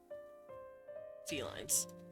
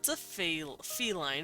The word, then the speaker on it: Felyne: Alright, so that's a feline, faline. Hmm. It's spelled Feline. Felyne, so I'm just saying feline.